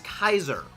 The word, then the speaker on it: Caesar: the funny thing is the actual Latin term was not Caesar it was Kaiser because in Latin C does not make the uh a sound it always made the hard C Sound and uh AE always made an I sound so it actually is Kaiser's that's why the the German word Kaiser is a thing thank you Alex